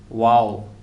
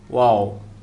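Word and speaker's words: واو: কফ, calf, ওয়াও। অনেকে এটা পড়ে থাকেন ওয়া, কিন্তু না, এটার সঠিক উচ্চারণ হচ্ছে ওয়াও।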